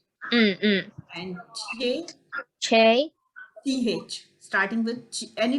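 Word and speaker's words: چ: Jim, J, and Ch, Che. CH. Starting with any letter starting with CH, you can start. Pronounce like English word church, Che. Che.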